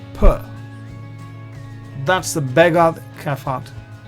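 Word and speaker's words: פ: Here, when there is no dot, you pronounce fa. When there is a dot, you pronounce pa.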